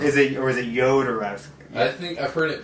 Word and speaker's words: Jodorowsky: Well, it depends on where he's from. Yeah, is it I thought it Jodorowsky? was like Jodorowsky. Yeah, Well, I in just- Spanish, J is pronounced like an H. Yeah. I think But he's Chilean. If you're from Chile, then it's pronounced like J.